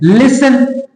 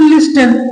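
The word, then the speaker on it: listen: में H silent है लिसन अगर अगर आप वैसे पढ़ेंगे तो लिस्टन लेकिन नहीं हो अब अंग्रेज में कहना है कि टी को साइलेंट कर दो ठीक है आप पढ़ो लिसन लिसन ठीक है ना कि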